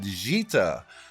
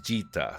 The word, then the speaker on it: Djeeta: I am Nick, and in this character spotlight, we're looking at Djeeta. I think the D is silent, I'm not sure, but you might recognize this character.